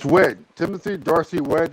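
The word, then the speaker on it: Wedd: Weed, I don't know. It's Wed.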